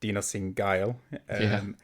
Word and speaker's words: Dinossindgeil: And thankfully, you've just tutored me on the correct way to say your name, which is Dinossindgeil.